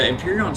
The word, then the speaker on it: Empyrion: Empyrean's spelled weird. It's weird the way they spell it. You're not too far off though, but yeah, it's EMPYRION, Empyrean.